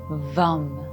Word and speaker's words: VAM: You can pronounce it as VAM. Elongating the m sound at the end.